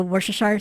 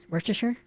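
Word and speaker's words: Worcester: is it worash the worash sauce Worchester Worchester it's it doesn't you don't pronounce it exactly how it's written essentially CU it's in Welsh tactical Warhammer yes yeah yep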